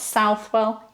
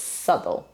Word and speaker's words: Southwell: So it's not Southwell, it's Southwell. Then Scrope.